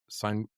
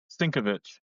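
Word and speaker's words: Sienkiewicz: Bill Seinwick. Sinkovich.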